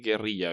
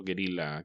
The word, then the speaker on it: guerrilla: Pero tenemos que decir guerrilla, Beto, porque no aceptó guerrilla que dicen los gringos. Que según ellos se pronuncia casi igual que gorila.